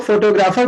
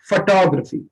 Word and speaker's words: photography: इसको बहुत से लोग फोटोग्राफी बोलते हैं, बट the real pronunciation of this word is नॉट फोटोग्राफी। The real pronunciation of this word is फोटोग्राफी। Photography.